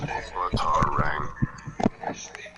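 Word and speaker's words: batarang: it's commonly understood that the stress should be placed on the syllable tar as in but tar rang yeah B Ang batang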